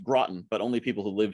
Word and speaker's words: Groton: you absolutely uh yes so so first it's pronounced groton but only people who live here know that